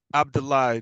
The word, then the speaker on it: Abdullah: Abdullah. Just think of Paula Abdul lied.